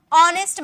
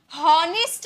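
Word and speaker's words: honest: का ठीक है नेक्स्ट ऑनेस्ट मैन हॉनेस्ट नहीं बोलते हैं लिखा हुआ है एच ना होनेस्ट नहीं बोलेंगे एच साइलेंट यहां भी एच साइलेंट होता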